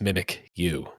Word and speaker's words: Mimikyu: Mimikyu. I didn't realize that it phonetically is mimic you.